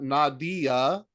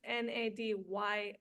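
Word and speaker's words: Nadja: dja but it's pronounced n a d ya a yeah and it's two syllables not three as the common name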